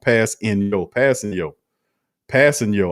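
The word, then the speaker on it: Kpassagnon: Ramsey says, hey, Q, Tanu's last name is pronounced Passing Yo.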